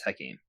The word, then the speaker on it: Hakim: Tonight, is that how you pronounce it? Sorry. It's Hakim.